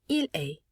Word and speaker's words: il est: Notice how il est and tu es sound exactly the same, because again, we do not pronounce the final consonant of that word.